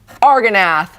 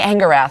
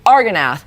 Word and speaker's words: Argonath: Argonath. I want to say Angarath, and I don't know why. Argonath.